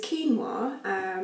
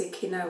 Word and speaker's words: quinoa: family it's really healthy it uses quinoa my husband is pronounced Aquino or so don't do that really healthy it's ideal